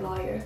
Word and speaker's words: lawyer: y'all you guys yeah how do you pronounce the first syllable of lawyer rhymes with boy rhymes with flaw i use both pronunciations lawyer so ryan's a boy yes i'd probably say lawyer what do you call